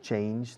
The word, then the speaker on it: change: Fijaos en la pronunciación de change. Sobre todo el sonido fonético final. Es una che.